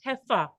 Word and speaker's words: heifer: A heifer. Look at the spelling. It's pronounced like heifer, but it is pronounced, the pronunciation is heifer. Just imagine you're spelling Hefa or FFA.